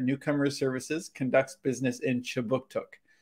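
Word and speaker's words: Kjipuktuk: Services conducts business in Chibuktuk, which is how you say Halifax in the Mi'kmaq language.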